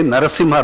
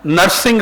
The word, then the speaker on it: Narasimha: They couldn't even pronounce his name and say Narasimha Rao. Okay? Narsingh Rao, it sounded like some nursing home.